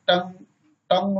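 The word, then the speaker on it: tongue: यदि अंत में यू ही आए तब भी यू ही साइलेंट रहता है। जैसे बेग मीन्स अस्पष्ट, लीक मीन्स संधि, टंग मीन्स जी।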